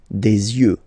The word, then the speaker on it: yeux: Don't pronounce the final X as usual. Des yeux, alright?